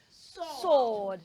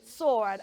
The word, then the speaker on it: sword: do not say sword it has a silent W so we will not say the W sound we will only say sword sword okay and then we